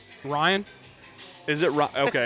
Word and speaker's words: Ryne: Ryan.